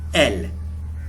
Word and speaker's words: él: Where we have the accent mark, we must emphasize that alphabet a little bit. So it's pronounced él.